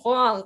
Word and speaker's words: Huang: Huang, and it's like, no, it's Huang, there's a U in there.